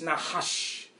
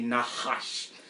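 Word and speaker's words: Nachash: And a Hebrew brother had to give me the correct pronunciation of the word. It's Nahash. Nahash. Yeah, I see y'all laughing at me. Nahash.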